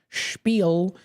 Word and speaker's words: spiel: as I like to say, a little bit more with some of that SH spiel, vocal mouth movements sound that I make. Spiel. It's spiel, but it's S-P-E-E-L is how it's pronounced, how it sounds like spiel, but it's actually spelled S-P-I-E-L.